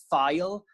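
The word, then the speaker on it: Ffeil: It's like file, as in like opening a file.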